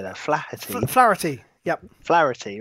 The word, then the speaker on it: Flaherty: Flaherty.